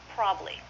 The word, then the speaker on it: probably: is probably this word is often pronounced probably two syllables probably I do have a